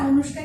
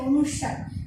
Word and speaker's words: অনুস্বার: ম হসন্ত স্থানে অনুস্বার হবে। অনেকে আবার এটাকে অনুষ্কার করো, ঠিক না, অনুষ্কার কিন্তু ভুল, এটা হবে কি অনুস্বার, ঠিক আছে।